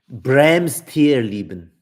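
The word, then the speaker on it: Brehms Tierleben: song any encyclopedia recommendations for animals and insects Bram tier leben get that one it's it's in German it's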